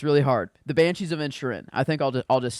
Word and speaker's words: Inisherin: Inisherin. Okay, thank you. Inisherin.